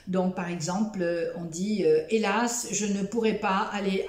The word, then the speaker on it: hélas: Donc, par exemple, on dit hélas, je ne pourrai pas aller à ton anniversaire. Répétez après moi. Hélas. Oui, c'est ça, on ne prononce pas la lettre H.